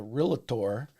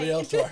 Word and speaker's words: realtor: to list with a realtor. You better say it right. Realtor, yes. I get corrected all the time. I have to pull back my tongue when I say realtor, who uses video to sell their property.